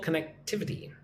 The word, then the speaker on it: connectivity: Ababa, boosting regional connectivity. Connectivity. Connectivity. Connectivity. Put emphasis on the first and third syllables.